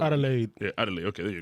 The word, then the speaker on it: Adelaide: It's Adelai. Adelaide.